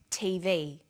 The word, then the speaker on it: TV: with a readon memory notice that each letter in the abbrevi ation is pronounced separately but the last letter is pronounced more strongly because it carries the primary stress so we say USA ASAP ABC and TV listen for another abbreviation